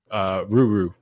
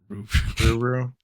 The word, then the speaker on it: Lululemon: Ruru. Ruru. It's like R instead of L.